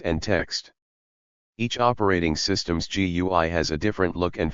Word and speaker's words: GUI: Modern operating systems use a graphical user interface, or GUI, pronounced GUI.